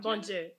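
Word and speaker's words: Bondye: is that there's uh Bonju or Bonju Bonju. Yes. Uh that's supposed to be our god like good god like our father. Yeah god in my head I pronounced it bondi.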